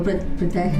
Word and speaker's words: Pritesh: Oh, Pritesh, I'm saying it right.